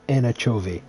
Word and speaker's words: anchovy: name is in anacho anchovy is anchovy but it's it's said anchovy yeah you gotta say with the accent you gotta say it correctly anchovy i love that bed